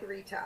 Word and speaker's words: Ritha: Yes, well, you can say it like without the H, so like Rita, R-I-T-A. Or Rita Ritha.